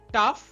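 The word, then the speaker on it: tough: ঠিক একইভাবে রাফ, টাফ, এনাফ সবগুলোতে এইউ জিএইচ বা ওইউ জিএইচ প্যাটার্ন আছে।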